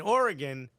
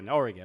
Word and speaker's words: Oregon: He said, Christian, the last syllable in Oregon is gun, not gone. You said Oregon Trail. Apparently, it's Oregon Trail. Yeah. Okay. You goober. All right, really showed me. Oregon.